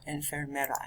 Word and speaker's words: enfermera: refers to a nurse add an extra er in the middle of that one and fair mero or enfermera next one pause the